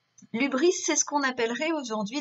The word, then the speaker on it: hubris: Donc le Y ici se prononce U puisque c'est un mot grec que l'on reprend. L'hubris, c'est ce qu'on appellerait aujourd'hui la démesure.